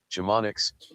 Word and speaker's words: Chamonix: Chamonix, France. Chamonix. I'm sure that's 100% That is correct. I didn't trick you, so I get the point. I'm catching up. Chamonix, France.